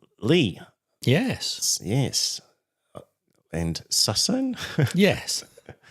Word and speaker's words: Ley: we have the pronunciation wrong. Lee.